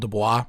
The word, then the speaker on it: Du Bois: Du Bois, I know his name is spelled Du Bois, but for whatever reason he wanted people to call him Du Bois, so that's what we're going to say.